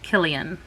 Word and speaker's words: Cillian: ben and cillian uh killian with a c but it's pronounced like a k and my heart went